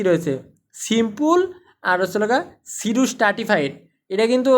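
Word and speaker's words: pseudostratified: ইউনিলেয়ারড ইউনিলেয়ারের মধ্যে কি রয়েছে সিম্পল আর হল সিডু স্ট্রাটিফাইড এটা কিন্তু বানানটা দেখে নেন এটা কিন্তু অনেকে মানে ভুল করবেন পি উচ্চারণ থাকার পি সামনে থাকার পরেও এটা উচ্চারণ হছে কি সিডু স্ট্রাটিফাইড এটা কি উচ্চারণ সিডু স্ট্রাটিফাইড সিডু স্ট্রাটিফাইড দে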